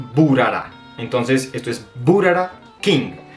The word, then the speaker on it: Bharara: en el Instagram oficial Ellos dicen por favor se pronuncia buara Entonces esto es burar